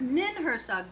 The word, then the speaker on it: Ninhursag: It was just your accent. Ninhursag, yes, that's exactly what I'm talking about, okay? Yep. See what language does? Right? Getting it by the New England accent. Or how you say it. Yes, Ninhursag, that's right.